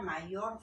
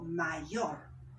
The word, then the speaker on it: mayor: ejemplo yo cojo acá la palabra mayor yo no digo mayo digo mayor donde recae el acento y yo no le